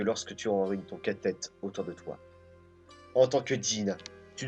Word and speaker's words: Tête: Tête. Ah oui, d'ailleurs, à ce propos, j'ai demandé à Miduki et il m'a confirmé. Donc ça se prononce bien tête.